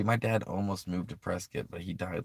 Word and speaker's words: Prescott: And yeah, no, I pronounced that right. Prescott, Arizona. Um, I love that area.